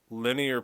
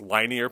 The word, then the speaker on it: linear: many degrees this is also called linear pair people wrongly pronounce this lie near pair but it's still that